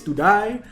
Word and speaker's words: TODIAY: So that's TODIAY, or I like to pronounce it as TODIAY. You know, like the show to die for.